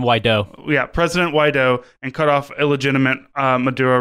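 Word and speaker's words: Guaidó: the administration of the president how do you pronounce his name again Juan why do we have president why dough and cut off illegitimate Maduro regime so Maduro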